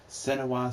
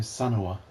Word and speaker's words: Senua: I was pronouncing her name Senua. Senua. I was getting the E and the U backwards.